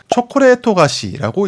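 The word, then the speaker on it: チョコレート菓子: 자 그다음 알아볼 표현은이 에붙은 작은 글씨인데 초콜릿토 가시라고 읽습니다 직역하자면 초콜릿 과자인 건데요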